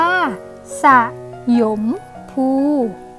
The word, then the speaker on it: สยมภู: ว่า สมัคร เส้ ยม พูห์ อ่าน ว่า สยมภู อักษร กลาง น้ำ กนก อ่าน ว่า